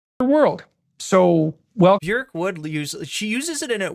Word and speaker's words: Björk: Has anybody heard the song Pluto by Björk, or the artist you may know as Björk, whose name is actually pronounced in a way that rhymes with jerk rather than dork?